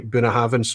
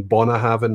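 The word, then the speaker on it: Bunnahabhain: uh anok or even the way i say buna haven't rather than bona having and you know they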